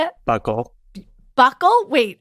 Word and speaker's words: buccal: Buckle.